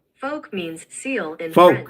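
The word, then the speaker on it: phoque: animal seal in French according to Wiki how folk means seal in French F folk you that's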